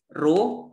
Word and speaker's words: rho: Jadi hanya tinggal rho, kecepatan, percepatan, gaya, usaha, tekanan. Ini massa jenis ya, rho ya. Ya, bukan simbol P, massa jenis. Rho, RHO bacanya guys.